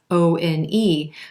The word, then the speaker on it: one: This causes some confusion because there's no W anywhere in the word O-N-E, but you definitely hear the w sound at the beginning of that word, one.